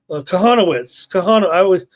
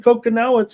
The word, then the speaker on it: Kahanowitz: What was another name I keep mispronouncing and everybody's giving me a hard time? Kahanowitz. I started saying Kokonowitz and I can't stop saying it.